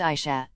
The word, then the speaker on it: Asha: her hair in pigtails her name is pronounced Asha Asha degree was a